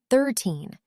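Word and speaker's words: thirteen: The trick is the stress. 13. The stress is on the end. 30. The stress is on the beginning.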